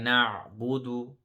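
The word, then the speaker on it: نَعْبُدُ: Iyyaka na'budu, na'budu. So remember the ayn, we need to emphasize that and stretch it a little bit.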